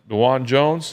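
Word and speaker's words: Dawand Jones: like let's hey danan dwan Jones is how you say it dwan Jones 68 374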